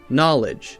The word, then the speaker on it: knowledge: something like kanava kanava now we have a silent K so we don't say Kuna we say hmm no knowledge knave knives we say just hmm and we also have